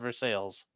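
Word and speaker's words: Versailles: people that live there it's called veres oh okay because I New Orleans it's like New Orleans it's like yes New Orleans would be yeah okay they call it nans they call it nans you know there ain't no Orleans there anymore it got wiped out okay so verai is obviously like spelled a French way yeah it's spelled exactly that way and they call it vers sales okay that's dumb yeah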